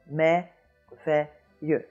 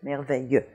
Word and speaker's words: merveilleux: And then moving back to the first syllable, we have mère. We have mère. And that has the same vowel sound as this. So we have merveilleux, merveilleux, merveilleux.